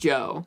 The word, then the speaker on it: Djo: It is pronounced Joe.